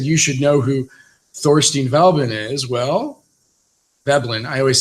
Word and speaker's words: Veblen: should know who Thorstein Veblen is well babblin I always say velbon I always say his name wrong but he wrote the